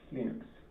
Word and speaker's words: Linux: Hello, this is Linus Torvalds, and I pronounce Linux as Linux.